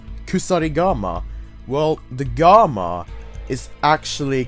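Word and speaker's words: 鎖鎌: So therefore it becomes kusarigama. The original syllable without the dakuten is ka into the gamma, so the word and the kanji itself, the Chinese character, becomes kama.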